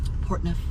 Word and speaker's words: Portneuf: But she also did pronounce Portneuf. Portneuf.